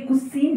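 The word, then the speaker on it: cuisine: और ये कुसीन है, सी यू आई एस आई एन, इसको कजिन मत पढ़ लेना, है ना, क्योंकि यहाँ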